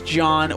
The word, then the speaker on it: John: work for change podcast my name is John with a silent h and my name is